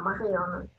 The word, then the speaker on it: Marion: А, Marion. Это не читается на конце.